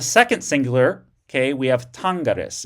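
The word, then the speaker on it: tangeris: In the second singular, okay, we have tangaris. It switches to a short e before the personal ending. But notice it's a short e rather than a long e.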